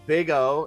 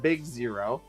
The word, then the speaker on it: big O: big O analysis pronounced big O not big zero which is only funny because I guess the